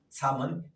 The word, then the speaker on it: Psalm: 영어로도 보면은 다른 우리 성경은 전부 다 챕터 몇 장 이렇게 하는데 시편만큼은 삶은 PSALM 한 시편입니다. 삶. 그래서 P도 묵음이고 L도 묵음이어서 읽을 때는 그냥 삶으로 읽습니다.